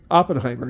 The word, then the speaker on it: Oppenheimer: 70 they won seven Oscars isenhower uh ower Oppenheimer yeah Oppenheimer yeah I know I wasn't saying